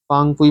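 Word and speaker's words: Phawngpui: नाम लिख दे रहा हूँ एक बार, PHANGFUI, फांगफुई माउंटेन, इसका दूसरा प्रोनाउंसिएशन ये भी होता है PHWANG, कोई कोई इसे ऐसे भी लिखता है।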